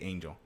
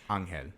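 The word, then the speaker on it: Ángel: I hate that they say Angel. It's Angel.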